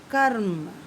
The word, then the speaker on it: कर्म: अब माँ के ऊपर लगा है, लेकिन उसका उच्चारण हमने माँ से पहले किया है, कर्म, है ना। माँ बाद में बोला हमने, सबसे पहले क्या बोला हमने, का, फिर क्या बोला, रम। तो कर्म, का प्लस रा प्लस माँ।